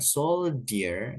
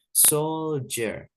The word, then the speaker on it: soldier: ya kemudian ada Soldier D di sini dibaca lebih ke J ya Jadi bukan Soldier tapi Soldier Soldier jadi e terdengar seperti J ya Soldier Soldier artinya tentara